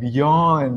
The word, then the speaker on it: Bjorn: Like, you know, sometimes they leave out the B, sometimes they leave out the J. So it's like, but it's pronounced Bjorn.